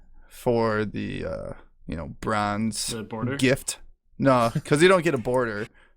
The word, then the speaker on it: GIF: Just to clarify, it's GIF, right? You guys say GIF. Yeah, you it's don't say GIF. Yeah, GIF. Yeah, Yeah. it's GIF. Okay. Yeah, Jif is the peanut butter spelt with a J.